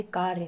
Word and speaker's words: कार्य: कि जो रहा है अगर हम इसका उच्चारण करेंगे कार्य कार्य उच्चारण करें और का र यह रवायत के पहले आ रहा है या रॉकी पहले ही आएगा कि यह कायर नहीं होगा अगर यह के बाद